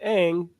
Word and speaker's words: Aang: So if they chose to pronounce it Aang, you gotta honor that too.